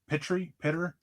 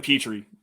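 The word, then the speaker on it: Pitre: Lewis Sine, Jalen Pitter. I'm not sure how to say the last name. It's Jalen Petrie.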